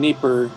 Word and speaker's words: Dnieper: placement of displaced people in Dnieper or Dnipro, depending on whether you use the Russian or the Ukrainian pronunciation.